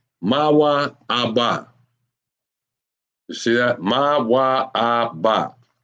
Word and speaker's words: Moab: Moab is what and that is pronounced ma ABA ma ABA you see that Ma